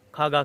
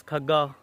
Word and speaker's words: Khagga: अपने नाम के साथ खग्गा क्यों लिखा हुआ है, बल्कि अक्सर को तो प्रोनाउंस करना भी नहीं आता, वो खागा कह रहे होते हैं। तो इट्स खग्गा, इट्स नॉट खागा।